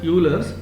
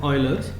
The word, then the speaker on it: Euler: Some of you may pronounce this as Euler's, but I pronounce it as Euler's.